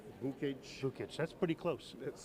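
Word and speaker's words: Vukich: David Vukic. Vukic? Vukic, that's pretty close. Let's spell it.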